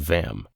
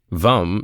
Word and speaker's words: Vam: And the mantra of suvadesana chakra isn't vam. Let me explain. It's simple. Lum rhymes with thumb is the seed mantra of the